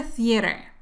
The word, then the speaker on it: theater: Esta tiene 3 sílabas. Escucha. The-a-r. The-a-r. Para pronunciar esta TH, tienes que sacar la lengua y soplar.